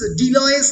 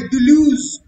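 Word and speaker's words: Deleuze: Guys, ডিলয়েস নয়, দুলুজ, জিল দুলুজ, দয়স্যৌ লয় জকলা বর্গের চ, দুলুজ, মনে থাকবে।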